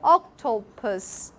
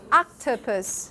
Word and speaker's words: octopus: so it would be now compare your octopus to octopus octopus do you feel an English octopus is weaker in the middle okay o o o